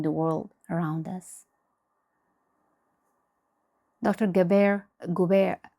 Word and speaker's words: Gabor Maté: Gabor Gubair, I'm not sure if I'm pronouncing his name properly. It's Gabor Gabor Mate.